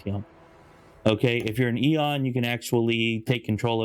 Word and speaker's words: Aeon: Now, unless you're an Aeon, or I guess Eon, as they say in the DLC, I guess I've been pronouncing it wrong for the last 8 months. But anyways, Aeon, Eon, whatever.